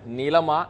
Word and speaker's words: Nilam: அதன் அடிப்படையில் தான் பெயர்களை உச்சரிக்க வேண்டும் என்று அவர்கள் அறிவுறுத்தியிருக்கிறார்கள். நிச்சயமாக நர்மதா, நீங்கள் சொல்வதை இது பார்த்தால் நீலம் நீலம் என்று இருந்தால் அது NEELAM என்று அந்த ஸ்பெல்லிங் இருக்க வேண்டும், ஆங்கில உச்சரிப்பு.